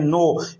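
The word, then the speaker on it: know: का तीसरा वर्ल्ड है तो साइलेंट हुआ ही करता है और वव साइलेंट हुआ करता है नो इसको नो नहीं बोलेंगे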